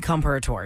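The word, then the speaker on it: Comperatore: Corey Comparator.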